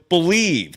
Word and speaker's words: BLEAV: Head to BetOnline today, and don't forget to use the promo code BELIEVE. That's the name of the network. It's spelled BLEAV for your welcome bonus on your first deposit.